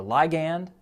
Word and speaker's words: ligand: that word ligand a lot sometimes people will pronounce it ligand or ligand but i looked it up and ligand is